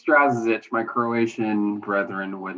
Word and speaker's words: Strazicich: last name i don't know if i've ever pronounced to write or i have every single time is it strazza's itch it's strazzich my croatian brethren would not be happy on